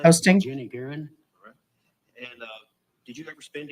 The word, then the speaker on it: Guerin: Guerin. Would you spell it?